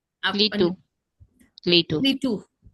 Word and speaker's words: Clietu: पीछे टेका लेके बैठे ये आपका क्या है, ये CLIETU, what is the pronunciation? आप लीटू, लीटू लीटू।